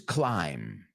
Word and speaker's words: climb: I've heard it all so the word is climb escarar c-l-i-m-b knows okay it's not supposed to be there they put it in